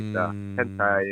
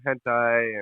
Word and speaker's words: hentai: So that's why hentai and not sure if I'm fucking up that name. Don't judge me. Hentai. And yeah, that's what it's. That's how you say it, right? Yeah, right. Yeah, hentai.